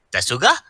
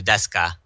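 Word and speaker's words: ですか: This Shizuka voiced Miki from Sakamoto Desuka. Bailey should know this character. He's watched Sakamoto. Yeah, I love Sakamoto. Desuga?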